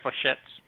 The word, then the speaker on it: flechette: Yeah, it fires flechettes.